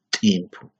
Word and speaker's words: timpu: Entonces, la representación, incluyendo el alfabeto de la Aymara, de acuerdo a su pronunciación, es timpu.